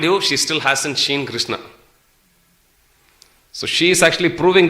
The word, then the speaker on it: Krishna: of the word krishna krishna has got two syllables krish and na krishi boo boo means